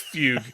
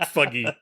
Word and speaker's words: fugue: however you pronounce it it's Fugue not fuggy we're going to get